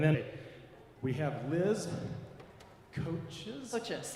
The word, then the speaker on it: Kochis: Kochis. Kochis, okay. I wasn't sure about the pronunciation there.